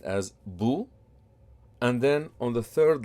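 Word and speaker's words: بُ: of the letter and the pronunciation of the letter would be boo so the first line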